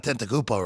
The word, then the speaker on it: Antetokounmpo: Giannis Antetokounmpo. I'm still impressed you got Antetokounmpo right.